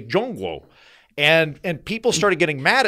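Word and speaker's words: 中国: So don't say Prague, say Praha. Don't say China, say Zhongguo.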